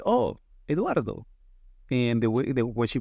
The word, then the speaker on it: Eduardo: I used to call myself Eduardo so that people could repeat my name in the U.S. It's actually Eduardo. And she said, oh, Eduardo.